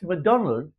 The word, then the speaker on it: Macdonwald: That's MacDonald pronounced with a W.